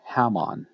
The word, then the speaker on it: Hammon: Sometimes his name is spelled with an H, Hammon. It's pronounced with an H.